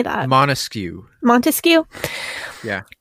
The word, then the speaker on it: Montesquieu: Machiavellian Montes how do you say that Montesquieu Montesquieu yeah it's a it's a coded that book